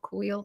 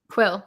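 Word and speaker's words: Kuiil: and I feel like he's kind of like wheel I always get his name wrong quill yeah it's kind of Quill's Legacy like the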